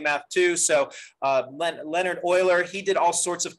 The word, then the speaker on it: Euler: time ago his name is leonard euler that's pronounced euler not euler i messed that up when i first started learning math too so uh leonard euler he did all sorts of cool things in